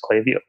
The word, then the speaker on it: Klaviyo: And then I'm like, "Oh, it is Klaviyo." But they said they don't care. I can pronounce it however...